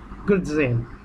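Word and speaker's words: grudzień: গ্রিটজেন, গ্রিটজেন উচ্চারণটা ডিজেড জ মাঝামাঝি, তাহলে গ্রিটজেন, গ্রিটজেন, গ্রিটজেন, গ্রিটজেন।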